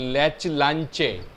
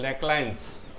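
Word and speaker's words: Leclanché: इसका स्पेलिंग होता है लैच लांचे, लेकिन उसका प्रोनाउंसिएशन करना है लैक्लांस सेल.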